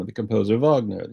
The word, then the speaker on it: Wagner: name of the composer Vagner you say Vagner not Wagner and so he's ceski